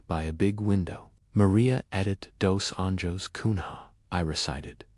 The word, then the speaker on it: Edite: Your name will be Edith Kunha, she announced.